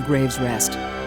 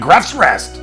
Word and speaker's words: Grave's Rest: Oh, it's pronounced Graves Rest. I was calling it Gruff's Rest.